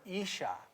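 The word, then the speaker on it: אִשָּׁה: And it's kind of spelled like Isa, but it's Isha. That's how you say it.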